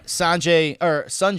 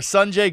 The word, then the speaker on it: Sanjay: Yeah, Sanjay, I found out is the correct pronunciation of his name, Sanjay.